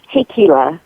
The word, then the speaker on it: Hikila: in case i didn't sure thank you it's hey kela and i know amazing